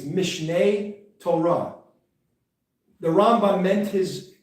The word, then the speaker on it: Mishneh: know it was like my my colleagues don't pronounce it right. Mishneh. It's Mishneh.